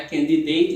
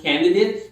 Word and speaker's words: candidate: Então, substantivos ou adjetivos em inglês com mais de uma sílaba que termina em ATE, a segunda sílaba ela suaviza, então não é candidate, e sim candidate.